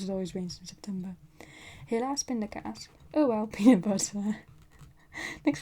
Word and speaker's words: helaas pindakaas: Helaas pindakaas. Oh well, peanut butter. Next thing you needed here, right? Right? Oh well, peanut butter. If you say it like that. But helaas pindakaas, it rhymes.